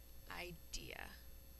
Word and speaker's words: idea: I is saying I. Which it often says at the end of a syllable. E is saying E at the end of a syllable. And A is saying its third sound.